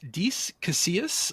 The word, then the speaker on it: Dece Casillas: So I'm here with Dece Casillas. Dece is a comedian and writer. Dece, did I get your name pronounced right?